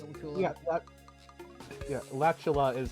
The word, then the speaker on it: Latula: I pronounce it Latula, so you pronounce it Latula. Yeah, Latula is how I would. It rhymes with spatula.